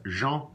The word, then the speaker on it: Jean: name is sean it's not go you know that jean but you don't say the M son it's Jean Oh Jean you can